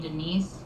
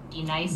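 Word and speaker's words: D'Nice: Now, D-Nice. Do you mean Denise? Son of a bitch! You say your name right, right now. Denise? Say it right. Denise. Correctly. Denise. Right. Denise. Right. D-Nice. That's better.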